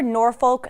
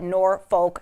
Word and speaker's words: Norfolk: By the way, some people pronounce it Norfolk Southern. Other people pronounce it, and I have to be careful because I've been known to slip up on this word, I can't say it. I can't pronounce, Sean's cracking up. Basically, they say it without the L, and then it kind of comes out like a certain curse word.